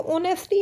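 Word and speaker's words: honesty: अब जैसे देखो ऑनेस्टी है। ठीक है? और यहां पर मैंने आपको ब्लैंक दे दिया। तो यहां पर क्या आएगा? यहां पे क्या है? ह साउंड। एच तो यहां पे साइलेंट है ना।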